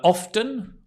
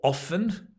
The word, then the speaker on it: often: have a shower uh often or often you can pronounce it either way we were I was